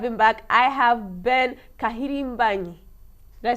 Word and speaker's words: Kahirimbanyi: I have Ben Kahirimbanyi.